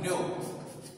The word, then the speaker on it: know: খেয়াল রাখো এগুলো যখনই পড়বে উচ্চারণটা খেয়াল রাখবে, দুটোর উচ্চারণ একই কিন্তু মানে আলাদা, বানান আলাদা, এগুলো খেয়াল রাখবে।